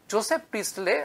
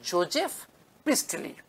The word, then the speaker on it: Joseph Priestley: জোসেফ প্রিস্টলে আমরা বাংলায় লিখি, এর প্রকৃত উচ্চারণ হচ্ছে জোজেফ প্রিস্টলি।